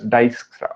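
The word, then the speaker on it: Dijkstra: this is pronounced as dyskra okay so this is i j is pronounced as y okay so many people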